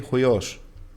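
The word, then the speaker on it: υἱός: Yes, Ios. My son. Ios. Ios, we say. Yes. In the Homeric we say huios.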